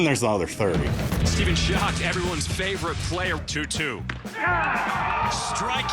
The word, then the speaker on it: Schoch: is steven so a lot of people will mispronounce my name they'll say skosh scooch scotch really just anything they'll say anything but shock most the time the